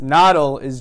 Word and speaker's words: Nadel: that's all you know the name is pronounced nada Liz German and is German for needle okay so because he's